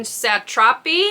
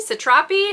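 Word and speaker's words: Satrapi: then we have persepolis by Marjan satropi satropi I think is how you pronounce it this is a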